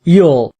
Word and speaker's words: ULL: The slow lane strategy is rooted in uncontrollable limited leverage or ull pronounced yule.